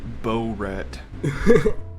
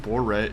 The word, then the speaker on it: Borat: talking about it and she pronounced it bow rat yo y'all rat i told her i'm it's pronounced boret she was like i